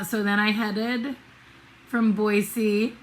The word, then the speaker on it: Boise: but then uh so then i headed from boise boise it is pronounced boise it sounds pretentious and i hate it and